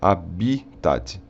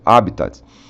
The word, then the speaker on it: habitat: é uma paroxítona então Só nos resta a opção de dizer habita é uma proparoxítona tá então a pronúncia em português pode ser habita que é mostra mais próximo do que seria do latim ou um pouco mais aportuguesado pronunciando te no final como habitat II É mas o mais correto no latim é sem o ter é conteúdo habita tá